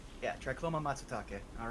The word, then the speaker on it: Matsutake: Here we have Tricoma Matutake. Yeah, Tricoma Matsutake. All right. Rico breezes through the Latin and Japanese pronunciation as if it was nothing.